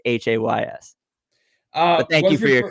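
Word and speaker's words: Austin Hays: Orioles fans out there Austin Hayes is Hays uh thank you for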